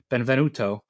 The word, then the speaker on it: Benvenuto: Stand owner Francesco Frank B benv I can pronounce things right now Benvenuto was fatally shot while sitting in his car